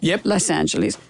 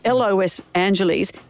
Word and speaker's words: Los Angeles: Have I said it correctly? Las Angeles. Oh, sorry. Los Angeles, but Las Vegas. So, it's Los Angeles.